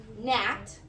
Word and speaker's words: gnat: England and Scotland and when they said GN like in the word Nat they used to say Gat say Gat have you